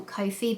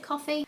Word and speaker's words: Ko-fi: up a coffee link which I always call Kofi because my dyslexic brain reads it as that but I'm pretty sure you pronounce it coffee it's basically like an